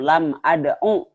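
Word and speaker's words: لم أدعُ: Nah, begitupun ketika jazam lam ad'u. Wawunya dibuang. Jadi terlihat, maksudnya terlihat itu terlihat bahwa ada huruf yang dibuang. Lam ad'u saja pendek bacanya.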